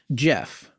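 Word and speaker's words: Gef: But you know what it doesn't sum up, and what we've been hearing from a lot of listeners about is Jeff, which is spelled G-E-F, right?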